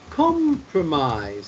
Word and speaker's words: compromise: the word promise but there is a situation where you do pronounce the ending eyes in the word compromise have you heard of this word before compromise okay do you know